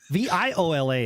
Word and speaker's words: viola: from a viola yeah v-i-o-l-a is viola v-o-i-l-a is voila uh did that work